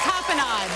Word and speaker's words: tapenade: The tapenade.